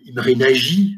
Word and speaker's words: Imre Nagy: Hein, c'est-à-dire que l'idée de Imre Nagy, hein, je vous le prononce à la hongroise, parce que je connais un peu quelques mots de hongrois, hein, Imre Nagy, hein, N-A-G-Y, bon, Imre Nagy, ça veut